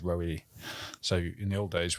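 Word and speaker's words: Roewe: so they had to change it to what it phonetically sounds like in Chinese, which is Roe.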